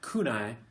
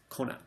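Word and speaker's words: 来ない: But just know that it's not kunai, it's konai.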